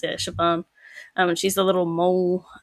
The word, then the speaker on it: Siobhan: And then you come across Siobhan, whose name I had to look up how to pronounce because it's Irish.